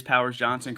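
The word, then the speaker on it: Powers-Johnson: can remember that for sure so it is Powers Johnson correct Jake that is the correct way to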